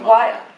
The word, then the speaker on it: Montreal: It's pronounced Montreal.